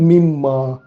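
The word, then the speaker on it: مِمَّا: Example, மின் மா என்று சொல்கிறதுக்கு பதிலாக மிம்மா. நினைச்சா என்ன, மின்மா மின்மா மின்மா என்று கொஞ்சம் உரமாக சொல்லி கொண்டு போகல, அது ஆட்டோமேட்டிக்காக மின்மாவமாக இருக்குதானே.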